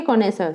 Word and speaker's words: connoisseur: Spelling भी ध्यान रखनी है, प्रोनाउंसिएशन भी, ठीक है। कॉनेसर, CONNOISSEUR, कॉनेसर, ठीक है।